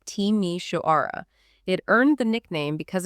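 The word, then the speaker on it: Timișoara: which city is this this is timi wara pronounced teimi shaara it earned the nickname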